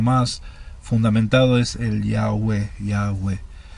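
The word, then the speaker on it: Iabe: theodore eto afirma que los samaritanos pronunciaba en el nombre ya ve si ya ve eso es como lo pronunciaban los samaritanos y ya ve iota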